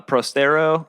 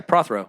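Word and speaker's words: Prothero: there yeah yeah yeah um uh Pro uh prostero Steven um another yes yeah Prothro thank you yeah got you I I heard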